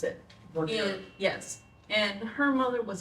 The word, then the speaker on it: Vernier: That's how she pronounces it. Vernier.